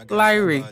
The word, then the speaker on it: Lyre: But yes, without further ado, we just had Tim Lyre on. Did I say it right? Almost. Say it again. Tim Lyre.